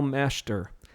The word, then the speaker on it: Masheter: So we're not pronouncing that middle E. It would read Masheter, which some of your family pronounces it that way.